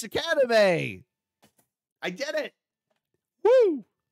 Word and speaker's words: Shikanime: And I just said, hey, Lauren, how do you pronounce our channel's name? And she's, oh, it's just Shikanime.